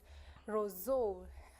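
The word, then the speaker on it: Roseau: in Dominica and the capital city is Roso I don't know if I pronounce it correctly yes you are pronouncing it correctly so apparently this beautiful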